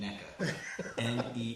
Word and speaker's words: NECA: Vegas Toy Squad officially endorses the pronunciation NECA NEECA. NECA.